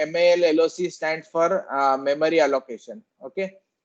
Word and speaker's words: malloc: Now the first function name MAL-LOC stands for memory allocation.